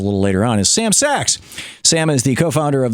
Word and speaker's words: Sacks: And you can tweet him at the DC Sentinel or at Sam Sachs, and it's spelled S-A-C-K-S. Yes. So not as in Goldman, but as in, hey, it's a sack, and or whatever.